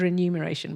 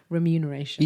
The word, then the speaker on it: remuneration: It's always remuneration. I used to think it was renumeration but it's remuneration.